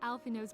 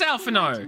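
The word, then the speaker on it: Alphinaud: chest of but for a chance encounter with alfino's grand side it is alfano never have left Lane lest you wonder who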